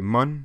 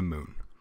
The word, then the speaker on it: Mun: um again i know that most people say mon and that's the correct pronunciation i don't care i like saying that i'm landing on the moon because it's just needle burrito man to land